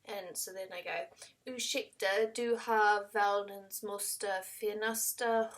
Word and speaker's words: ursäkta: And he says, ursäkta. And so then I go, ursäkta, du har världens måste finaste hund.